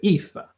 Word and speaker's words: Aoife: hmm the king says if is Irish it's pronounced Aoife oh well there you go Eva Eva Norwich Erica says